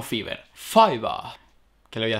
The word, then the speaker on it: Fiverr: Un momentico, que por lo visto se pronuncia Fiverr, no Fiverr.